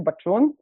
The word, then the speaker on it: Bacun: name really really well it's actually batun but you got it like almost like it's like 99% imagine as if you already like said it completely correctly um I know it's a bit of a challenge for all the people in in like englishspeaking countries to kind of try and pronounce that weird sounding CH so so it's cool